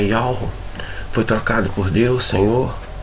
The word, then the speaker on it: Yahweh: É um lugar onde que está o tetragrama sagrado, que é Yud Re Vav Re, que transliterado é YHWH, e a pronúncia é Yahweh, foi trocado por Deus, Senhor, e vários outros assuntos, né?